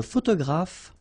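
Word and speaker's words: photographe: and photograph so here p and here P pronounce it like f f f f photograph okay same thing here this uh you don't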